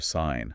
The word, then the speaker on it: sign: like gnome or sign. Okay. That G is going to be silent.